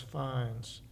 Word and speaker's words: Fagins: Fines. It's spelled Fagins, but his name was Fines.